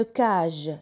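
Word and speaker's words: cage: اون كاج اللي هو القفص، قفص العصفور. اون كاج، كاج راهو قدام السي قدام الأ يتلفظ كا.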